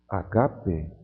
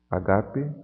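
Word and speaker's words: ἀγάπη: é uma aspiração Branda a aspiração Branda não afeta a pronúncia então aqui eu vou ler agape agape amor não afeta pronúncia aqui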